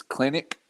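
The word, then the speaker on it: Kelenic: And I do think the rookie of the year will come out of the Mariners, and I always mispronounce his name. It's Clinic, Jared Jared Clinic.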